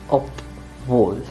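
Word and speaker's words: obwohl: up or another conjunction obvol you have to say op vol and not vol but up fool just keep that in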